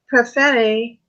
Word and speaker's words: Perfetti: prefer a plat actually I'm saying my own name wrong its perfetti ha Robin told me